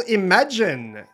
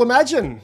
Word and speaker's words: Imagen: out of sushi google imagine i bet some people are pronouncing it imogen maybe including the researchers themselves it's a two billion